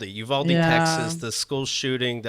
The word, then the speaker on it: Uvalde: of uh the uh you how do you pronounce it that place in texas it's uvalde uvalde texas the school shooting the elementary school what